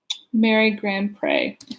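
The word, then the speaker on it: Grandpré: today is called Clea Nardo which is by Mary grant pray is how you say her name and I'm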